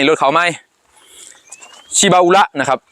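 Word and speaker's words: Shibaura: นี้ รถ เข้า ใหม่ ชิบาอุระ นะ ครับ บ้าน เฮา เอิ้น ติด ปาก ว่า ชิบู นะ ครับ แต่ ว่า ญี่ปุ่น อ่าน ว่า ชิบาอุระ นะ ครับ ชิบาอุระ นะ ครับ ตัว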